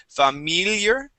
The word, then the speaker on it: familiar: word familiar okay uh we want to use a short I on that first I sound so instead of saying familiar it is fam familiar try that familiar good and shook